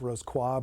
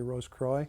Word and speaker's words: Rosicrucian: focused on the Rosicrucian degree, or more properly pronounced Rosicrucian, but most Americans say Rosicrucian.